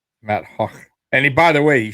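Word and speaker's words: Matt Haack: Now we got Matt Hack, right? Matt Hack, who is the kid of Isaiah McKenzie. Hawk. Yeah, that's how it's pronounced. Matt Hawk.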